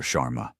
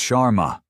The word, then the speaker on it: Sharma: Chararma." He butchers the pronunciation of her name. Another small deliberate cut. "It's Sharma." She corrects him calmly.